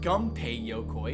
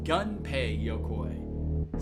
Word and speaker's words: Gunpei Yokoi: 57% is not that bad, considering, and it's not Gunpei Yokoi, it's Gunpei Yokoi.